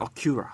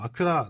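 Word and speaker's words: Acura: 이게 미국에서는 어큐라를 발음을 하죠. 아큐라.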